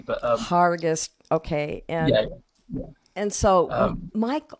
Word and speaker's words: Hergest: you were in uh hergest herg Ridge yeah yeah it's PR it's got a strange pronunciation because it's written with an e but it's it's pronounced with an A but um harus okay and and so